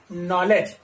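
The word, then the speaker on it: knowledge: डब्ल्यू एल ई डी जी ई, क्या होगा नॉलेज, क्या होगा नॉलेज। अब नॉलेज में यहां पर के जो है हम के का प्रोनाउंसिएशन नहीं कर रहे हैं, इसकी वर्तनी नहीं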